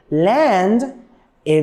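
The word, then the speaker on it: landed: the verb land okay land it is ending with the sound of the and in the past it should be pronounced land it land it okay so as you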